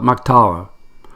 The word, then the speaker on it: MacTalla: of Scots Gaelic culture I call it mock taua the echo that being the gala if my pronunciations okay and the English meaning